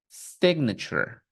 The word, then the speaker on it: signature: but in this case we're not going to pronounce sign we're going to pronounce s signature signature okay this letter T will not have a t sound listen again signature what else we have